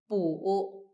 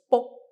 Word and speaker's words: 卜: Also, the pronunciation of book in Mandarin is bu, in Cantonese is book. Is similar to the sound of cracking of turtle shell.